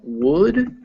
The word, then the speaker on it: would: Yeah, so things to remember here is that wood with the L And wood, without it, those two words are actually pronounced the same.